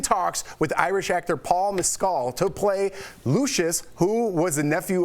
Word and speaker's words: Mescal: So according to Deadline director, Ridley Scott is in talks with Irish actor Paul Mescal to play Lucius, who was the nephew of Commodus, played by Joaquin Phoenix.